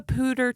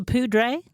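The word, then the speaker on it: Poudre: It was the pudre, which it still should be. Nope. Pter, but it's actually pronounced pair.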